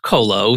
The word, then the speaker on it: Qolo: a unique company name so it's q-o-l-o and pronounced colo so where did that